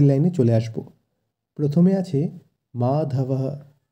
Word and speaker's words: মাধবঃ: প্রথমে আছে মাধবঃ। আমরা জানি শব্দের শেষে বিসর্গ থাকলে সেই জায়গায় হয়ের উচ্চারণ হয়, তাই এক্ষেত্রে মাধব তার সাথে হ যোগ হয়ে হবে মাধবঃ।